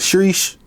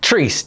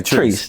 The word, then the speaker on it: Chreece: So, what what what is it? Shreesh? Shreesh? Something like that. Is that what it's called? Y'all know how to say it? No. Treesh. Cheers and peace. Oh, okay. Treesh.